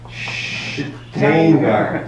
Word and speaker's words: Shteyngart: And all this with a totally unpronounceable last name. Can you say it? And Shteyngart.